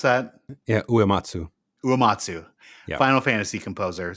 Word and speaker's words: Uematsu: But Nobuo Umetsa, Umatsu. Umetsu? I have no idea. Man of Rohan, do you know how to pronounce that? Yeah, Uematsu.